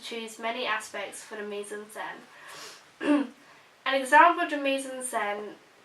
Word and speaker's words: mise-en-scène: go on to choose many aspects for the mise-en-scène.